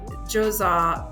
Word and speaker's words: Djoser: head northwest to the Djoser Pyramid. I know it doesn't sound like it should sound like that, but that's how Djoser is spelled.